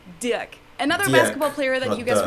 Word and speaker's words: Dirk: right, but the first name is pronounced Dirk.